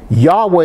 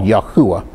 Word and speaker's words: Yahweh: world thus behold the hand behold the nail yahweh is the most commonly accepted pronunciation but there's another another more another i'd say a second one that's just as common it's called yahuwah um but again there's there are others there